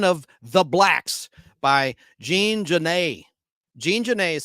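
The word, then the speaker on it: Genet: the blacks by Jean Jan Jean Jan is spelled j j a n Jan G NE T the t is silent and he was there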